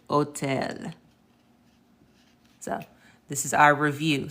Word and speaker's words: hotel: So I already told you rule number 1, the H is silent. Okay, so that's where we get our words like, hola and hotel.